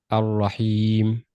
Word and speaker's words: الرحيم: And Ar-Rahim also. Ar-Rahim. Ar-Rahim, al-Lam is not pronounced too.